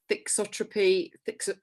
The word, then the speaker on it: thixotropy: But the aspect of this, a lot of people here asking about thixotropy, how do I pronounce it? Thixotropy. Well, that's American.